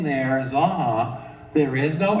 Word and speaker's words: Zanja: utensil and uh mil zaha and I'm pronouncing it correctly if you live in Redlands for a number of years you called it sanki you were wrong for hundreds of years because sanki if you look at